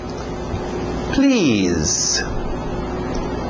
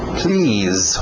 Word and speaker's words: please: Please. Please. Som de Z aí no final. Please.